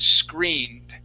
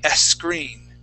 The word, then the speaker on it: screened: For example, the word screened. Right here. You had said and a screen. Okay. So we want to focus on not pronouncing an eh right in front of that S sound.